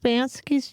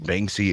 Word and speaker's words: Banksy: Which didn't they come out with Bansky's true identity? Banksy? They did. Oh, I'm saying his name wrong.